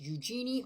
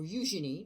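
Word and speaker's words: Eugenie: talk about a Miss Eugene OR eugin depending on how you pronounce it Clark she was born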